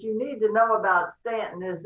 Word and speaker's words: Staunton: or aunt ruth well we go with the ant version on stanton this has been an